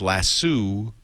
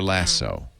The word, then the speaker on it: lasso: on iPad today about whether it's lasso or lasso. And now lasso is the common pronunciation, but lasso is how I was always taught to say it.